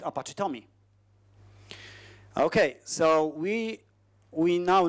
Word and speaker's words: TomEE: to create Apache Tommy Apache Tommy pronounced Tommy is just Tomcat plus additional jars